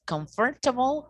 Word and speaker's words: comfortable: Comfortable, comfortable. And also we have some other silent syllables, okay?